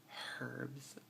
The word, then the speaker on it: herbs: And with herbs, we pronounce the H, we go herbs, and I think actually it's supposed to be herbs, but there you go.